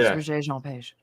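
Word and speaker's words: Regé-Jean Page: As a Bridgerton fan, it's Regé Jean Page.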